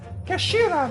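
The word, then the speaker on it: 頭: end of the hilt it's written as head in Japanese but it's pronounced as Kashira believe Kashira so Mr so's uh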